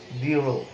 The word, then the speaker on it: দৃঢ়: যেমন একটি শব্দ যদি তুমি দেখো উচ্চারণটি কেমন, এখানে দৃঢ়, দৃঢ় যদি আমরা বলি তাহলে দেখা যাচ্ছে একটু মানে এই আমাদের কি হবে, মহাপ্রাণ, একটু বাতাসে একটু আমাদের ইয়ে থাকবে, অর্থাৎ প্রাণ শক্তি একটু বেশি প্রয়োজন হবে, উচ্চারণটি একটু গভীর হবে।